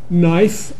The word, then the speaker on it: knife: If you've got an I here and an E there, don't pronounce the E, but turn the I into I.